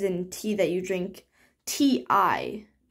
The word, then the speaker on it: ti: tea that you drink t-i like it's spelled t-i so it's like a ti plant but the way it's